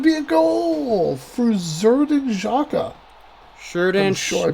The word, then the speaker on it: Xhaka: Sinclair, Corleone, going forward to Xhaka, here's a good shot, and that's going to be a goal for Xherdan Xhaka. I'm sure I butchered that.